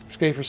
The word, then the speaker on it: Schaefer's: I just put a uh a Schaer's hammer, scafers hammer, however you want to pronounce it. I believe it's Schaefer's hammer, but it I could be wrong.